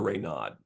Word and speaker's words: Raynaud: how it's Reno or Rod I've heard it pronounced both ways so we'll go with raino because I believe he is French and so I'll default